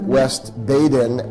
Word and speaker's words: West Baden: had the chance to visit the French Lick West Baden, as it's supposed to be pronounced, museum.